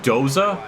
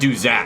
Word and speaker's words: Doza: How the How do you I said doozah and that's not how you say it's dooza. Do I got to look this up? It's is it's is it's it's pronounced doza. Doza.